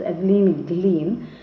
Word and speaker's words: Glennie: The pronunciation is Evelyn Glean.